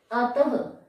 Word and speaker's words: अतः: और विसर्ग का जो उच्चारण है वो ह के रूप में होता है, जैसे अतः, हमने लिखा अतः, विशेषतः।